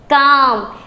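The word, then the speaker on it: calm: Condition 1 कहती है कि अगर स्पेलिंग में एल के बाद एम हो तो वहाँ एल साइलेंट रहता है। एग्जाम्पल्स हैं, अब मैंने यहाँ लिखा C, A, L और M, तो आप इसे क्या पढ़ोगे? काम। वेरी गुड, क्योंकि L क्या है यहाँ पर? साइलेंट।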